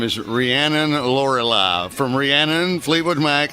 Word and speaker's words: Rhiannon: all Rihanna from Fleetwood Mac. I like Rhiannon.